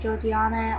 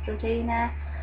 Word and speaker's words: Georgiana: Some people pronounce it Georgiana, or some people pronounce it Georgiana.